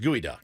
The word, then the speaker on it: geoduck: trip to Las Vegas is that just like spelled like geoduck it's a gooey duck I've heard of gooey duck oh purple says it's pronounced gooey duck okay yeah geod duck so